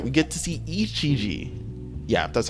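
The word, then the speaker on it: Ijichi: But nonetheless, right, we get to see Ichiji.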